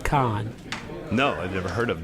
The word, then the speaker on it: Kahan: Yeah, it's spelled Kahan, but it's pronounced Khan.